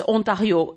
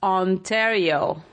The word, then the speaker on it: Ontario: in Canada onario well in French it's onario in English it's Ontario right so you turn the